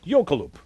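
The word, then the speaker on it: jökulhlaup: mercifully i'm on television so i have to pronounce the icelandic word yokoloop which is a catastrophic breach of an ice dam on a glacier a dramatic yokoloop broke forth near grimsvot in iceland on november 5th 1996.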